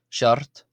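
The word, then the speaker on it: seacht: Shart uh and that means seven.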